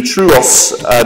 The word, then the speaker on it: TrueOS: If you are interested in running FreeBSD on your laptop, I would recommend the Truos distribution of FreeBSD. It's spelled Trueos.